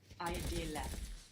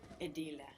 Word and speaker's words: ideale: The I, we don't pronounce it like I, like in ideal, do we? How do we pronounce it in Italian? Edile. Like ink. Edile. Requires a lot of thought, this one, huh? You have a lot of vowels to think about here. English fuses them together. In Italian, you will take the time to pronounce each vowel, and then we will